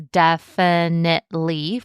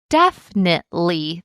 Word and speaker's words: definitely: Some people may pronounce it as definitely four syllables, but others may reduce it all the way down to definitely three syllables.